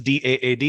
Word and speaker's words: DAAD: called it is actually it's pronounced as d-aad every letter individually but I think in India at least everyone calls our organization dad so it was a